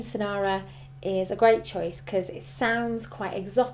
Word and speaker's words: Senara: I think the name Sanara is a great choice because it sounds quite exotic um yeah it still rhymes with names like Lara and Zara and Kara so it has a familiar